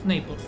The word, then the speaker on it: Naples: Because I went to class with this one guy from Naples, that's how it's pronounced in English, from Napoli.